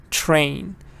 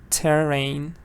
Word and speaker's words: train: Thomas talk train again be careful with train it's a cc VC so ccvc it means you have two consonants back to back so you look at them like one and say them together train it's not terrain it's not a CV it's a cc consonant consonant train train 12 this